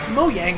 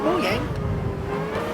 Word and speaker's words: Mojang: of the girls there moyang everybody flipped out like what the yeah it's pronounced moang and uh and then